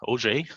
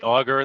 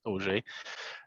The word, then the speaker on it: Auger: my name is OJ uh you can say auger that's that's fine too but it's actually pronounced OJ uh it's my first